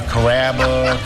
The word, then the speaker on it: Carrabba: pretty good you know Carrabba it's a really easy name to pronounce it's karma come to Carrabba's for